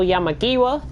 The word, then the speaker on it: Yamagiwa: round it at kyoto yeah Maggie WA and that is the pronunciation and that is the right pronunciation because I've been practicing